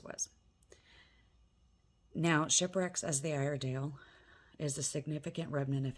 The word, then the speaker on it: Iredale: luck now with Fort Stevens and the Peter iron day Iredale um and um even keep a disappointment which